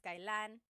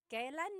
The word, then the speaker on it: kailan: It's pronounced kailan, kailan, but you will often hear it pronounced kailan, kailan. Kailan ang kasal? Kailan ang kasal? But it's not wrong to hear kailan ang kasal. It's a little bit more formal.